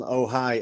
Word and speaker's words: Ojai: We could talk all night, but before we go, just let people know when the album Ojai, have I said it right this time?